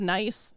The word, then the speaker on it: Nice: I mean, they have nice. It's not pronounced nice, but I like to say it as nice, and then I piss people off. I think it's like Nice. It's Nice, yeah.